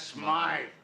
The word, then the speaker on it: Smythe: Mr. Smith is closing up his shop. That's Smythe.